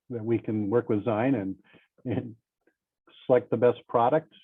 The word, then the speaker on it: zein: Does the Magna protein masker have a version specialized for, I apologize for the pronunciation, Zein off notes, Z-E-I-N?